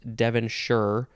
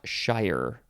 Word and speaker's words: Devonshire: is two words and it is pronounced Devonshire sheer or sure not Shire that's not how you say this word noun from 1791 the